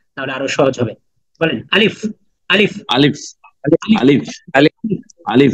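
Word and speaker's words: ألف: বাতাস বের করেন বেশি আলিফ আলিফ আলিফ আলিফ আলিফ আলিফ আলিফ আলিফ আলিফ আলিফ আলিফ আলিফ আলিফ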